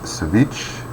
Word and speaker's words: ceviche: There's another writing model about the best ceviche. Ceviche is the proper pronunciation.